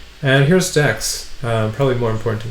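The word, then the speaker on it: deque: ended Q right and it's shorten to just deck you might also see it spelled this way different books spell deck this way or it's spelled uh actually This spells like DQ anyway don't worry too much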